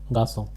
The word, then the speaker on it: garçon: First one is garçon. In English it is ga son.